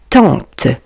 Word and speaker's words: tante: Tante. Vous voyez les amis, A + N vont former le son en tente.